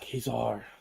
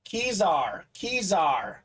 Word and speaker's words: Kezar: Kazar. Okay. Kazar. Kazar. Yeah, like it's a czar. Like a Russian czar. I think I pronounced it right. Kazar. Let's go. Score one for me, Bob Boulay. Score one for me on the pronunciation. Key like car key. That's right. Oh, Kezar. My bad.